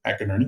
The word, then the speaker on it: McInerney: So that's the way you pronounce it, McInerney.